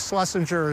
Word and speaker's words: Schleisinger: And when it comes to pronunciation, that's a whole nother story. They would have pronounced it Schleisinger, but I think Schlesinger is just fine for Schleisingerville.